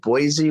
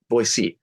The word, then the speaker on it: Boise: I loved it I Boise was so it's actually it's not they pronounce it Boise it's not Boise boyy boyy okay like that's like a